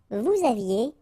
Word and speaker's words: vous aviez: Vous aviez, Z at the end, et, aviez, and then liaison, vous aviez.